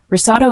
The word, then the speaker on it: risotto: Risotto is a creamy Italian rice dish cooked with broth. The pronunciation is risotto.